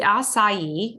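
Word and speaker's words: açaí: The acai, and that's how you pronounce it, is actually a small, round, black, purple fruit grown in South America.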